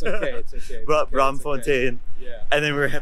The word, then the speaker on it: Braamfontein: I know I have trouble pronouncing some of the Dutch names here. It's okay. Braamfontein.